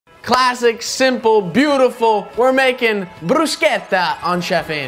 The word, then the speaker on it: bruschetta: pronunciation of this dish it's not Brer it's not bruser it's brusa okay brusa let's practice right brusa okay perfect now we